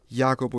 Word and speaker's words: Jacopo: did you know that my name Jacopo is pronounced just like the Yak so in a way